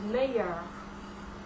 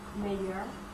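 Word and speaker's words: meilleur: it in French either we use mayor this is better in the feminine form major pronounce the same plural would be mayor you follow feminine mayor all four are pronounced the same and that's better adjective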